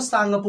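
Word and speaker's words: Tsangpo: यहाँ पे मतलब कि इसमें जो त है ना आता, तो ये साइलेंट होता है, बस आपको सांगपो बोलना है।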